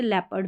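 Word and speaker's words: leopard: ईओ को भी ए पढ़ेंगे, जैसे लेपर्ड में ईओ करके नहीं पढ़ेंगे, ले ए साउंड EO का।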